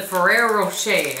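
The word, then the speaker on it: Ferrero Rocher: they apparently are from Italy this is the Ferrero rochet I believe is how you say this right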